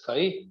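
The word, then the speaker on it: χ: This काई, where काई is called susceptibility, written as chai but pronunciated as kai, is called magnetic susceptibility.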